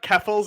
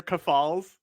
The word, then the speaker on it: Keffals: He's talking about keffals and calling her kafals. Kafals, yeah. I did notice that. You would think that you would double check the pronunciation, wouldn't you?